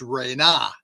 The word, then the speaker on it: Ren: And so the word Ren, I know, properly should be pronounced Rena, not Ren.